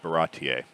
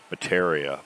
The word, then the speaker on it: Baratie: my watchers mentioned that I had mispronounced Baratier. Yeah, I know. I had it in my head, Baratier, Baratier, Baratier. I'd watch the episodes, Baratier, Baratier. And then when I get to do the video, all of a sudden, Bateria, Barata, Burtra, nothing, nothing like what it's supposed to be.